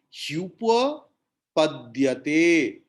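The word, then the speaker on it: ह्युपपद्यते: He upapadyate. So it will be hyupapadyate.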